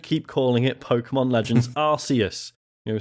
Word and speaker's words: Arceus: If they wanted you to say it the other way, they'd use a syllable with a K sound in it, which is, fair point.